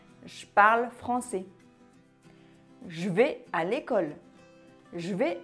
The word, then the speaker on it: je: j'écoute la radio quand on parle on ne prononce pas le e de jeu on lit le gie homos qui suit par exemple je parle français je parle français je vais à l'école je vais à l'école je suis en vacances